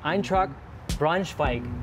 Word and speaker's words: Eintracht Braunschweig: And I want to start with your time in Germany with Hannover versus, and I'm going to do my pronunciation here, versus Eintracht Braunschweig.